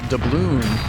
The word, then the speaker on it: doubloon: Doubloon rhymes with maroon.